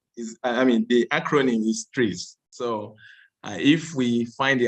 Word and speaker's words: TRIZ: However, when you pronounce it, the spelling is, the acronym is TREES.